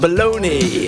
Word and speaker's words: bologna: Feed I am me some bologna. I like that meat that rhymes with Tony.